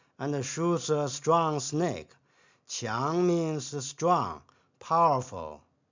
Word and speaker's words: 强: Qiang means strong, powerful. This character has another pronunciation, Jiang, stubborn, unyielding.